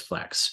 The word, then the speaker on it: Flexe: Um the most important thing about Flex is that the second E is silent. So, just Flex.